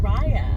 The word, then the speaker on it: Raya: Heart, which includes our main character, Raya, and I think it's pronounced Raya.